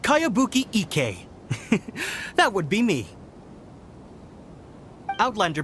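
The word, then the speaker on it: Kayabuki Ikkei: new one i've never heard of it by cowabunga icky your mia this is a really strange name who's this cowabunga it's pronounced kayabuki ek that would be me outlander brigade is a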